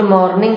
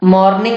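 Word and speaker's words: morning: मॉर्निंग बिल्कुल गलत उच्चारण है। इसका सही प्रोनाउंसिएशन है मॉर्निंग। ये जो आपको लिखा दिख रहा है, आपको यही बोलना है। प्रैक्टिस के साथ आपको ये आ जाएगा। दरअसल अंग्रेजों का आर से 36 का आंकड़ा होता है। आर या तो वो बिल्कुल साइलेंट कर देते हैं या फिर उसको हाफ साइलेंट कर देते हैं।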